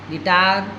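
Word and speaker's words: guitar: यू आई ल ए घायल जी यू आई टी ए ल गिटार जी यू ए आर the biscuit you के बाद कोई स्वर हो तो यू का उच्चारण नहीं होता है नंबर 14 पर है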